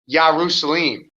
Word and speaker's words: Jerusalem: So then Judah becomes Judah, and Jerusalem is actually Yarusalim.